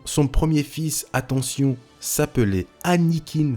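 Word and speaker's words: Annikin: premier fils attention s'appelait anne eakin starkiller pas anakin annick in vous mettrez à l'écran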